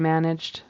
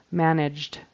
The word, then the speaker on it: managed: in that particular word managed the past tense verb we don't pronounce the whole syllable we just put a d on the end managed managed so it kind